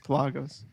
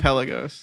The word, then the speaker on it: Pelagos: handful of times since i learned how to pronounce pilagos that's yeah you know from that video revolution lagos yeah it's palagos you got to draw out there it's not pelegos it's flagas okay yeah they definitely played up